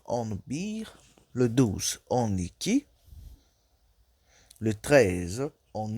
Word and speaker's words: iki: Donc les nombres, le 1, on dit bir, le 2, on dit iki, le 2, on lit ça iki, le 3, on lit